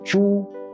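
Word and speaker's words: 猪: example Ju when pronounced in the first tone zhu it means pig an animal in the second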